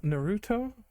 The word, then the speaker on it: Naruto: you said it right fin sir it is Naruto just like it is here we go oh